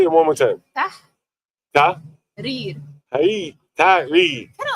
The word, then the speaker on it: Tahrir: Tahrir. Say it again. Yeah. Say it one more time. Tahrir.